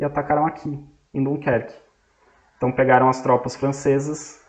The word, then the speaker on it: Dunkerque: Eles invadiram por Dunkerque, ou a pronúncia em inglês, Dunkirk.